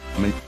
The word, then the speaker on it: ME: Windows Millennium Edition, que se pronuncia como una abreviatura, ME, es un sistema operativo gráfico híbrido de 16 bit / 32 bit.